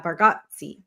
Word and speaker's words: Bargatze: I never can pronounce his last name. Bargatze. Yeah, Bargatze.